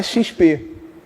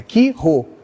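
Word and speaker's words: Chi-Rho: não é XP, é Qui-Rho.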